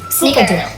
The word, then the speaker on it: snickerdoodle: Snicker with an R. Snickerdoodle. Yeah, like a Snickers, like the candy bar.